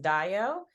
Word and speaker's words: Dayo: it's Deo um however it happens to be a real African name that's pronounced Dayo and it means happiness